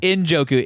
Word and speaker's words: Njoku: It's Injoku. NJ O KU.